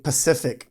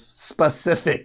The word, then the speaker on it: specific: I always kept on saying Pacific. Pacific, but it's specific.